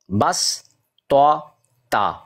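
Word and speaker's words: بسطة: سین نظر آئے گی، یعنی یہاں پر سعاد کی بجائے سین اس کا تلفظ جو ہے وہ ادا کیا جائے گا۔ یہ قرآن پاک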